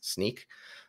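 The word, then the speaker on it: Snyk: you that's SNY YK I've hear some people pronounce it Snick but I think it's sneak um I've always uh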